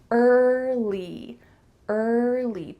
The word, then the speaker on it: early: Don't add another sound in there. I often hear English learners say early, early, but that in the middle isn't natural. So let's make sure you say early and put it together, early.